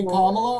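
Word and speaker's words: Kamala: I don't think Camala was uh Kamla. Whatever. No, it's not whatever. Say Kamla or say Harris. Don't say her name wrong.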